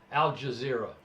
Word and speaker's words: Al Jazeera: Al Jazeera.